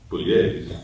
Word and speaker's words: Pugliese: no, his name is actually Pugliese, when he, you know, because it's an Italian name, but when his dad was in kindergarten, the Irish Catholic nun said Pugilis, and he went Pugliese,